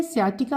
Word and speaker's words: sciatica: एस ये जो एस सी है सी यहां पे साइलेंट है। सियाटिका आप इसको पढ़ेंगे।